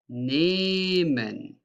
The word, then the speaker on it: nehmen: Listen, we say nehmen, nehmen, and we say nimmst, nimmst. The change here is that nehmen is long pronounced E, because if a vowel like E is followed by an H, that means it is long pronounced E. While if you have two consonants after each other, like two M's, then it is pronounced shortly, like nim, nim, nehme, nimmst, nehme, nimmst.